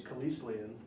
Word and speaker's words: Kelislian: And then my last name is Kelislian. It's spelled Kelis, which is Kelis.